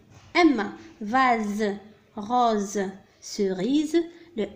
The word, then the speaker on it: vase: le S هنا نطق على أنه Z. نكتبه في الخانة الثانية. لماذا نطق على أنه Z وليس S؟ لأنه محصور entre deux voyelles بين حرفين متحركين. الحرف S دائما إذا وجد بين حرفين متحركين ينطق Z.